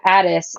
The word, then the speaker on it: Adidas: Oh, Addis or Yeah, Addis is how Adidas should be pronounced.